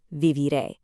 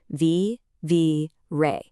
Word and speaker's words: viviré: Do you hear how we kind of punch that very last syllable? Vi-vi-ré. That little accent mark over the e is your visual guide to getting the pronunciation exactly right every single time.